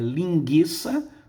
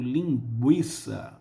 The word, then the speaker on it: linguiça: por seus falantes e nenhum falante vai ter dúvida se a pronúncia, por exemplo, é linguiça ou linguiça. Linguiça tinha trema, indicando que esse U era pronunciado.